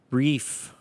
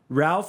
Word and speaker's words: Ralph: Ralph and Reef. Apparently, Reef is just the Irish way of saying Ralph.